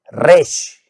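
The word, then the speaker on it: ראש: La segunda parte es la raíz rosh, que al formar la palabra se pronuncia resh.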